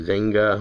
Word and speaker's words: Wenger: not saying it right i believe it's they pronounce it venga but i don't speak german so i mean my new york accent kind of takes over its wenger or you know sometimes i'll even